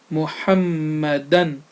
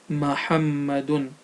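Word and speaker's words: محمدا: with care, and also the double fatha, also known as double zubar, on the letter dal at the end of the word. So it's Muhammadan and not Muhammadun.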